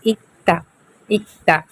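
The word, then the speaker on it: 읽다: pronounce के नियम तो नीचे डबल पा में र और दोनों आता है तो फिर हम इसे क्या बोलेंगे इक्ता इक्ता ओके यानी पढ़ना सिक्स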